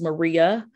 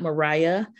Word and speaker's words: Maria: so so so important my name is maria it is not mariah it is not marie it's maria and if you call